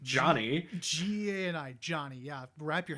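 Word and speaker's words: Gianni: We meet Johnny, which that is how you pronounce it, or that's how the American dub pronounces it, which is spelled Geani. Johnny.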